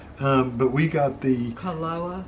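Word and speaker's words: Kualoa: maybe i don't know you pronounce it like every letter that's what i've noticed in hawaii you pronounce every letter there's no silent letters even if they're double letters you say both letters they're two a's you say them both um but we got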